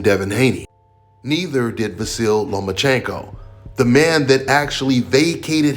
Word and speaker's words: Lomachenko: You are now the mandatory challenger for Vasyly Lomachenko's 135-pound title. Do you believe at 20 years old you're ready for that type of challenge? I think you said his name wrong. It's Lomachenko because he doesn't want to fight me.